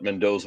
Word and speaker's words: Mendoza: Yeah, it's Mendoza.